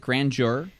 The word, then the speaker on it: grandeur: there's no J in this fucking word. Yeah, but DU in that case makes a jur sound.